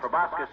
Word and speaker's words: proboscis: Proboscis means nose, doesn't it, Doctor? It's proboscis, my boy. The C is silent, like a husband in a millinery shop.